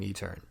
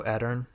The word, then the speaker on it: Edern: clarify yeah i am i'm etern uh or enter and however you wanna pronounce it i'm fine with either but no how do how do you how do you pronounce it i want to say your name right i go edern myself uh but like tomato's